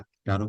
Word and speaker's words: Tarot: तो इसके अंदर टैरट नहीं बोलते कभी भी, ही साइलेंट रहता है, टैरो बोलते हैं इसको।